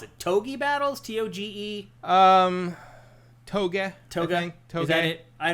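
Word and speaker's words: Tōge: The E it depends how you're romanizing it, but the E in Japanese romanized to English is usually e.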